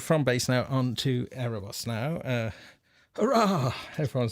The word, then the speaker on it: Aerobus: Aerobus. Is it meant to be? Do you say that the B with a V? Is it Aerobus? To give it proper Greek pronunciation.